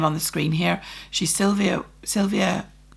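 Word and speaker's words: Sylwia: that's PR syvia so the W is pronounced with a V and her surum is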